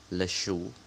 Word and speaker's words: le chou: Le chou, bacanya le chou, dia maskulang.